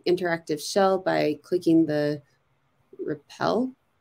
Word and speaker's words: REPL: You can open the interactive shell by clicking the REPL? It's pronounced REPL.